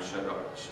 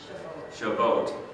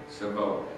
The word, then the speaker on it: Shavuot: also on this time Shabbat. Say again. Shavuot. Did I say it right? Okay. Shavuot.